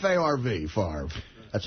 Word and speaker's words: Favre: Favre. Favre. Yeah. F. F. F a RV. Favre. That's how you pronounce it.